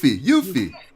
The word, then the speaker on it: Yuffie: How do you pronounce her name? Yuffie. That's what I thought it was, Yuffie.